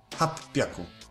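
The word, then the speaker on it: 八百: Hap Piaku. Ogólnie z ósemką jest tak, że nie robimy z tego Hachi, tylko samo H. Czemu są takie wyjątki? A po to, żeby łatwiej się to wymawiało.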